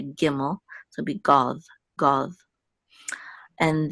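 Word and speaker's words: gimel: has the dot we're going to still say giml so be go go and then this is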